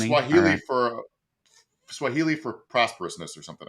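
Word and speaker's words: Fani: It's not Fanny, it's Fonnie. I've been pronouncing Oh, that name okay. All right. Yeah. Did not know that. Yeah, it's Fonnie.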